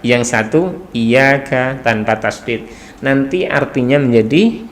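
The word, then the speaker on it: إِيَّاكَ: Kayak misalnya iyyaka na'budu kan, iyyaka sama iyyaka gitu ya, tanpa tasdid. Yang satu pakai tasdid iyyaka, yang satu iyyaka tanpa tasdid.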